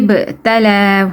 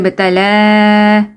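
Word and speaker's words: ابتلى: Okay, وَإِذِ ابْتَلَى, ba, you have to do qalqala here. وَإِذِ ابْتَلَى, you have to stretch it, إِبْرَاهِيمَ.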